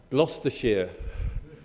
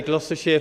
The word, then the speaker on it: Gloucestershire: you all um uh I'm just going to pronounce gloucestershire can you say gloucestershire for me gloucestershire see you can speak like locals in the